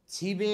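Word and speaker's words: 집에: के हो ए छिबे यसको उच्चारण के हुन्छ छि यो ब माथि जान्छ र बे हुन्छ छिबे भनेको घरमा तल कन्सोनेन्ट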